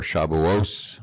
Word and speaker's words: Shavuos: festival of Shavuot, or Shavuos. If you were Ashkenazic, you would pronounce that final T as an S.